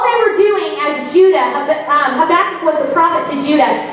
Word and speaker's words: Habakkuk: But his name is Habakkuk. He was a prophet in the Old Testament. Say that real fast. Habakkuk.